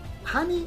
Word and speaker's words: honey: first one is honey in honey we do pronounce the letter h honey is spelled as h o n e y while on the other